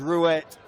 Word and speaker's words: Guillaume Roy: but guillaume roy yeah we will stick with roya it's interesting the spanish told me it was rouette but of course born in france we know that's how they pronounce it there so we'll stick with